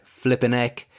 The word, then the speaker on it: flipping heck: Note the pronunciation, too. It's quite contracted, flipping heck.